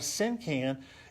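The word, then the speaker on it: cinquain: a syn can now what's interesting about a sin can is you have to write you have to know what syllables are and syllables are kind of like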